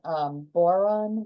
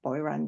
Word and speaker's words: Boiron: Right, and I've seen, like, what's the company, Boron, how do you pronounce that? Yeah, Boiron, yeah.